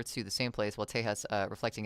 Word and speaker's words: Tejas: Texas is the modern English name, while Tejas, pronounced Tejas, is the older Spanish spelling derived from the Caddo